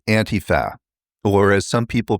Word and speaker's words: Antifa: In America, it's Antifa, or as some people pronounce it, Antifa, which is actually just a way of making it sound foreign and more threatening.